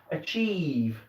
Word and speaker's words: achieve: Achieve, that E sound, okay?